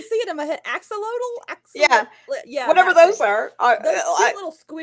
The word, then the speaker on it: axolotl: Um, so like there's a those, I'm gonna mispronounce this horribly, like those oxodals, those like weird salamanders. You know what I'm saying? Yeah, Again, I've always pronounced it axel.